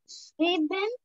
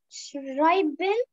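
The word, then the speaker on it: schreiben: إيش مشت إيش مشت شريبن شريبن لا لأن الإيه وراها إيه تبقى آي شرايبن ايوه كده شرايبن شرايبن اعطيني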